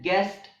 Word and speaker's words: guest: The words guess and guest also have a silent U.